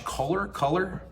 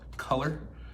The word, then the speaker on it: Kohler: Kohler, how do you pronounce it? Kohler.